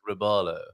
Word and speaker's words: robalo: Without wanting to sound like a bit of an a-hole, well, actually, it's robalo.